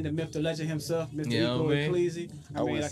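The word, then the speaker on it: Ecco E Cleezy: Ecco E, Cleezy. For I know sure. it look like Echo, but trust me, it's Ecco. Hey, man, it's definitely a different type of vibe.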